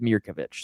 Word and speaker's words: Mirkovic: So I'm going right back to Waggler and Mirkov or Mirkovich. I I watched an interview today and he said it's pronounced David Mirkovich.